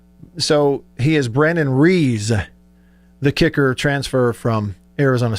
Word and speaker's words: Ruiz: actual correct pronunciation is reas as almost as if we're just looking completely past the u so he is brandon reese the kicker transfer from